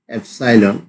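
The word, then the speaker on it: epsilon: one belongs to এস one member of member of এস ওয়ান এসাইলন এটা Greek বর্ণমালা এটা actually এটার উচ্চারণটা এসাইলন ওয়ান এসাইলন এস অনেকভাবে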